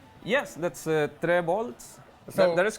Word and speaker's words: Trevolts: Yes, that's Trevolts, so that is correct.